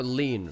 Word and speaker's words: lean: Oh, lean, not lien.